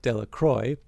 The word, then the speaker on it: Delacroix: Bobby and Harry Jones and Dickie Delacroix, the villagers pronounced this name Delacroy, evidently made a great